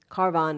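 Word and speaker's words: Kayavarohan: not a traveling Swami carvan is the way the locals say car of Rohan and its harm to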